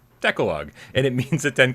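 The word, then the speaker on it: Decalogue: in wrong gamecat with $5 tip says it's pronounced decalog and it means the Ten Commandments it's where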